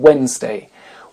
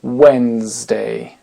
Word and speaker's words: Wednesday: très connus dans lesqueles le D ne se prononce pas on va commencer par le 3è jour de la semaine Wednesday Wednesday ça ça s'écrit bien